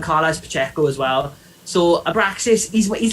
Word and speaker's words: Abraxas: i don't know butcher abraxas abraxas okay i was going to say abracast but abraxas sounds better um okay who's this